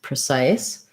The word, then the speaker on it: precise: you ice size precise the pre sounds like pra because it's a um vowel schwa uh unstressed so in the in the dictionary you're going to see it like this pro size for just precise and precisely for precisely um so we have